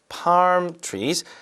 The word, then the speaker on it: palm trees: Palm trees, right? Palm trees라고 하는데 L 발음은 하진 않죠? Palm trees. palm trees가 아니라 그냥 palm trees. L 발음 없어요.